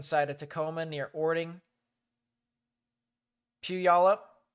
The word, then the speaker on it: Puyallup: So if you know anyone that lives over here on the southern side of Tacoma near Orting, Puyallup, I believe that's how that's pronounced, as well as Roy, and really just anywhere here in Tacoma.